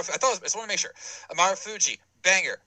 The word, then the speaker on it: Marufuji: Naomichi Marufuji. Yeah, I just want to make sure. Marufuji, banger, 5 stars.